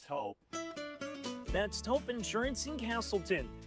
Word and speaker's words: Toop: No, I'm pretty sure it's Toop Insurance. Maybe Toupee. Could be Toupee. Yeah, I don't know. Or Taupe Insurance, maybe? I don't think so. Say it right. That's T-O-O-P. That's Taupe. Oh, it's Taupe.